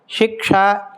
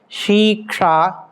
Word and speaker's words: Shiksha: Shiksha is sometimes pronounced as shika.